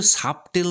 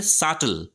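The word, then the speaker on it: subtle: উচ্চারণটা কিন্তু সাবটেল নয়। উচ্চারণটা হবে সাটল।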